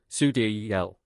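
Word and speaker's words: Sideræl: Sidereal, the last portion of her name, which is pronounced Sudiel, offers 2 interpretations.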